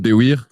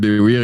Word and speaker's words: Baiwir: So it's pronounced Baiwir. Baiwir in French, but every pronunciation is fine.